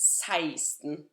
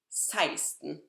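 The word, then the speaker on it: seksten: 14, 15, 16, and please make a mental note of how different the pronunciation of 16 is from the way it's written. It's written like sexten, like the number 6, sex. However, it's pronounced 16, 16.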